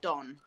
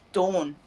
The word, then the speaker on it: Dawn: Don, or, you know, I'm like, it's Dawn. It doesn't even sound like an O.